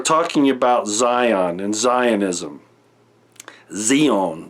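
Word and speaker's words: ציון: about Zion and Zionism Xion Xion is actually how you'd say it in Hebrew but at any rate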